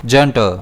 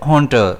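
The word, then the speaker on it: junta: इसे हम प्रोनाउंस करेंगे जंटर या फिर हंटर। दोनों ही तरह हम इसे प्रोनाउंस कर सकते हैं।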